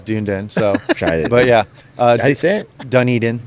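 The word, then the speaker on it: Dunedin: I grew open it's called dun Eden which that's how you say it which is everyone says dunen so but yeah uh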